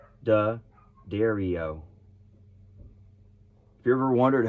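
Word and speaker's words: D'Addario: it's crazy all right dia dario no da dario have you ever wondered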